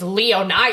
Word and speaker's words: Leonia: I think it's Leonia. Okay. Anyway, it's in New Jersey. People are like, "It's Leona."